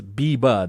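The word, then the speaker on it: Bybba: coined, him and his friends have coined Biba, but it's BY, BA. And that means bring your buddy alive. Bring your buddy alive, or bring back your buddy alive, I think. Somehow you still pronounce it as Biba, though. It's just not spelled B-I-B-A.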